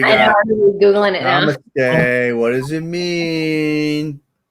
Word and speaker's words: namaste: It's actually, if you want to get super technical, the pronunciation is namaste. Namaste. Say it again. Almost numb. Numb. But it's short. It's like namaste.